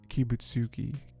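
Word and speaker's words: Kibutsuji: It ends because Tamayo tricks Susumaru into saying Kibutsuki's name.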